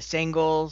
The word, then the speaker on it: Sengal: For the Sengals slash Kikaros, which is pronounced Sengal and Kikaro, Christo, Kirill, Luca, Chali, Jem, Sitka, Soren, Keela, Keegan, Taryn, and Jem.